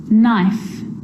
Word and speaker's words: knife: A K is not pronounced when it comes before an N, like knife, no, knee, knock, not, knowledge.